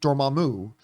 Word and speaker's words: Dormammu: Beyond that, really there's a theory going on that Dormammu, or as some people pronounce it, Dormammu, might be behind the manipulation of Wanda.